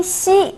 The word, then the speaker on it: xi: Le pinyin xi s'écrit de la même façon que la consonne X française. Cependant, le pinyin xi se prononce ch tirant vers le S.